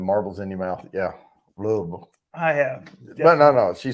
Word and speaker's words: Louisville: Louisville. I have. But no. She said you have to say it like that. Louisville. Louisville. Louisville. Louisville. Louisville. You keep saying Ville. It's Vol. Louisville. Vol.